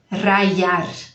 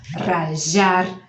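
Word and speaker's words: rallar: Eu falo rayar com som de I, mas pode ser rayar, rajar, rachar. Escreve com doble L. Ao invés de um L só, 2 L's, e aí a pronúncia vai mudar.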